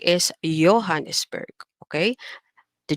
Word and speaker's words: Johannesburg: the letter J, and the letter J is actually pronounced in the German language as Y. So, for example, instead of saying the word Johann, okay, we say Johann. Okay, Johannesburg is Johannesburg.